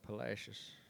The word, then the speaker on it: Palacios: suggests that that town was probably once called palacios but those texans call it palacios which kind of sort of rhymes with fascists if you think about